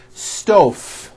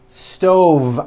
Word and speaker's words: stove: here's the first word sto I cooked dinner on a hot stove was that correct no I should have said stove stove I cooked dinner on